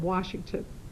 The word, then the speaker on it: Washington: And then there's no R in Washington.